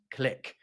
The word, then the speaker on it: clique: To me, it seems like in America, people are more likely to pronounce what I would say as niche and clique as niche and click.